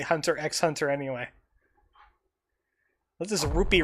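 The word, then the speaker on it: Hunter × Hunter: fox star will be it's just pronounced hunter hunter but most people say hunter x hunter anyway this is a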